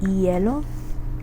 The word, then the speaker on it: hielo: In Spanish, you don't pronounce that H. So you would just start with whatever comes after it. So in the case of our word today, we have the word hielo, which is ice. So in that one, you don't pronounce the H.